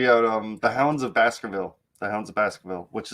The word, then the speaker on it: Baskervilles: but the book was wait is it called basketville baskerville oh basker like a lot of lebron james